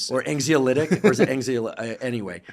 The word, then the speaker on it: anxiolytic: like it's our own affiliative as you said, anxiolytic. Is that how I pronounce that correctly?